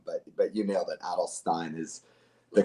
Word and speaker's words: Adelstein: It's Garrett Adelstein, not Garrett Adelstein.